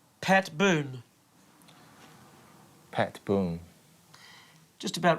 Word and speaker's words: Boone: would you pronounce pat boone pat boom just about right boone with an end b double o n e boon boom boom boom boom boom boom you're not d not boomed boom boom boom while cj